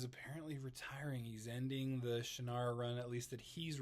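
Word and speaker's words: Shannara: in the original uh shinara Trilogy which apparently on the audio books it's pronounced shanara and I just think like malison just sounds better than the actual way you're supposed to say it shanara just I don't know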